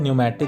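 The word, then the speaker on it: pneumatic: जिसको हम बोलते हैं न्यूमैटिक बोन। ध्यान दीजिएगा, ये पी से शुरू हो रहा है बट इसका प्रोनाउंसिएशन एन से शुरू होता है, न्यूमैटिक बोन।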